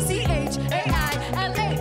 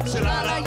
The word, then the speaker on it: Chaila: My name's not that hard to pronounce. No, pre-K's not profound. C-H-A-I-L-A. Sound the words out. It's not Chile, it's not Chilala.